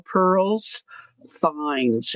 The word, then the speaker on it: Pearl's Finds: Pearl like a pearl you find in a oyster plural. Pearls finds f i n ds.